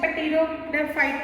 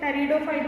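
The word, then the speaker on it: pteridophyte: अब किसी भी प्लांट के लास्ट में फाइट्स आए, टेरिडोफाइट, मैंने पहले भी बताया कि इसका पी साइलेंट रहता है, इसको पेटिडोफाइट नहीं बोलते, टेरिडोफाइट बोलते हैं, फाइट्स, ब्रायोफाइट्स प्लांट, ठीक है।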